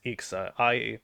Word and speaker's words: Ixa: So here is Ixa, it's spelled I-X-A.